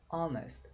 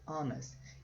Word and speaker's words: honest: tem som de vogal porque o h não é pronunciado você não fala honest fala honest honest então an honest man